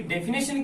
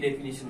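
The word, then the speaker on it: definition: डेफिनिशन, ये होती है डेफिनेशन की स्पेलिंग। कई बच्चों की डेफिनेशन बोलते हैं, नेशन, यहाँ पे ए लगा देते हैं, रॉन्ग है, ध्यान रखना।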